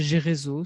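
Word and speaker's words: Gereso: non, c'est chez Gérézo, c'est une maison d'édition bien connue dans le domaine des livres de coaching et de formation. Donc Gérézo, ça s'écrit G-E-R-E-S-O, tout simplement.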